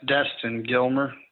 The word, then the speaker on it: Destin Gilmer: hang on one second can you say your name for me well yes Destin Gilmer just like it sounds okay so make sure